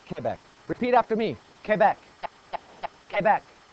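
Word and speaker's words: Québec: the correct spelling for Quebec and I'm saying Quebec because that is the way it is pronounced in Quebec they do not say Quebec it's Quebec repeat after me Quebec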